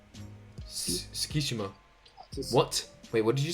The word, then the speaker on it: Tsukishima: But I would say my favorite character, maybe the guy with the glasses, Chuseki. Tsukishima.